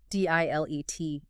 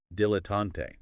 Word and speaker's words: dilettante: D-I-L-E-T-T-A-N-T-E. Dilettante. 3 syllables. Stress on the first, maybe. Dilettante. Or the last. Dilettante. It can vary a bit, but often dilettante.